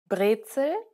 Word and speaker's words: Brezel: Compare a few English words with their German derivatives. Pretzel, Brezel, bagel, Bagel, cobalt, Kobalt, Autobahn. Autobahn. The difference is quite obvious. Be sure to always pronounce words using German consonant and vowel sounds when speaking German. Get out of the habit